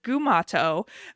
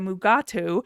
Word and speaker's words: Gumato: And Mugatu is not even what it's really called, because DeForest Kelly kept mispronouncing the name. So they changed it. It was a Gumato, but he kept calling it a Mugatu. And even if you watch the credits, it's still listed as Gumato.